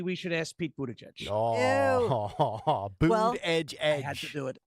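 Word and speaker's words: Buttigieg: monkey pox maybe we should ask Pete Bud boot Edge Edge I had to do it boot Edge Edge he has an unpronouncable name it's boot so uh former the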